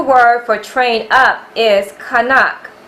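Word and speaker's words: חנך: The Hebrew word for train up is kanak, pronounced kanak, spelled ket, nun, kaf sophie.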